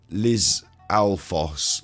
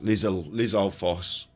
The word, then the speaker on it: Lizalfos: It's pronounced. No one can say that. Lizalfos. Lizalfos.